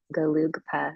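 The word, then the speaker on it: Gelugpa: He completed the 8-year monastic sutra program through the Asian Classics Institute based on the traditional Galugpa.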